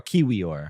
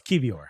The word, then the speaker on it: Kiwior: How do you pronounce his name? Kivior or Kiwior? No, it's Kivior. Kivior.